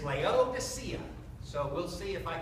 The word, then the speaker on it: Laodicea: You know, so throughout here, I think I've got this in 20, 25 times, but the correct pronunciation is Laodicea.